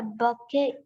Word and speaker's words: bouquet: He gave her a bouquet of flowers at her birthday. Oh, perfect. Yes. Dia memberikan buket bunga untuk ulang tahunnya. Betul. Berarti silent T Bouquet.